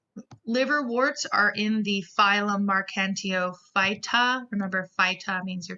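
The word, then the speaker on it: Marchantiophyta: are in the phylum mark nto vitae remember five top means you're talking about a phylum mark and tio fighta this is how you pronounce it mark and tio fight ah and here we actually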